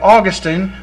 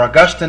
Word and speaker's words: Augustine: Now, the Calvinists following John Calvin would have pushed hard for this earlier idea of Augustine, or Augustine as he's pronounced, that we do inherit guilt.